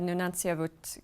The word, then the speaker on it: Nunatsiavut: You chair the board of the Nunatsiavut group of companies. Yes. Did I pronounce that okay?